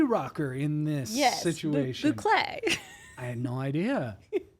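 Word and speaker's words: bouclé: I don't know how to say this word, but as I was looking at furniture for my own house, a lot of boucle.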